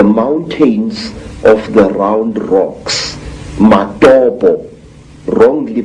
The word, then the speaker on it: Matobo: place called the mountains of the round rocks matobo wrongly pronounced mattopa in in zimbabwe these hills are really not